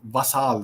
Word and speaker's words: vassal: Now, I'm sure you heard me say this, that Ukraine has transformed itself into a US vassal state. Vassal. I use the French pronunciation of vassal.